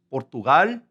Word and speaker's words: Portugal: Now, let's go over to Portugal, which in Spanish is the same thing, but it's pronounced Portugal.